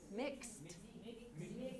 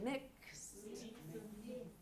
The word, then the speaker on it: mixed: Mixed. It sounds like too many consonants altogether, but we pronounce them all. Mixed. It sounds like a K-S-T. And we pronounce all of those.